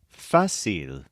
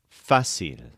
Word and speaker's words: fácil: so difficult the opposite is fil which means easy this is spelled f a c i l with an accent mark over the a fil here's an example this